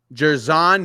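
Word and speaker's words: Jer'Zhan: Let me know if I say his name wrong, Harley. Yeah, yeah, go ahead. Jerzan Jerzon. Jerzon Newton, Yes.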